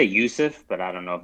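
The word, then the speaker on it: Juuse: have uh mr saros how do you say that first name it's j-u-u-s-e i say yusuf but i don't know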